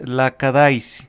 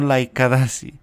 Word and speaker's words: Lackadaisy: las review Pepito mal el nombre de este piloto es la cadáis No laikadazi si me preguntan por qué